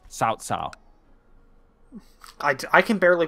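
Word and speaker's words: Cao Cao: It's cow cow, but it's got pronounced sao sao.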